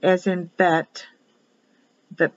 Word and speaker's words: Bet: second letter in the hebrew alphabet is for bet if you have a dot or vet pronounced as a vet via victoria if there